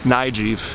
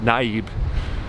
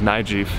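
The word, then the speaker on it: Nayib: president came in, we're finding out it's actually pronounced Nijiv. So Mr. President, we're sorry, we've been pronouncing it wrong. Even though it's spelt, an American would pronounce it Naib. The correct pronunciation is Nijiv.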